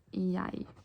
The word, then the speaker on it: jeg: So it's written like G-E-G, but it's pronounced like so, like jeg, but it's spelled like G-E-J-E-G.